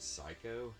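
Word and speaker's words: Psikyo: company put this out it's called psycho it's spelled p-s-i-k-y-o so i assume i'm pronouncing that correctly but they did two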